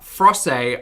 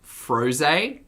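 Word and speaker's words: Frosé: watermelon frosted soy ah frosay i believe may be pronounced froze as in frozen rose smashed together if you haven't heard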